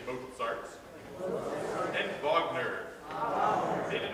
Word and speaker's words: Mozart: While we're talking about pronunciation, let's not say Mozart, let's say Mozart.